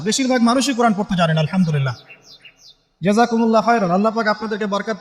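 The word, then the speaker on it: الحمد لله: আপনি করছেন আল্লাহু আকবার, আলহামদুলিল্লাহি রাব্বিল আলামিন, এই তো আপনি পড়ছেন আলহামদুলিল্লাহ। শব্দটা কি? আলহামদুলিল্লাহ। এই হা এর মাখরাজ কোথায়? হা এর মাখরাজ কোথায় বলেন একজন? কণ্ঠনালীর মাঝখান থেকে।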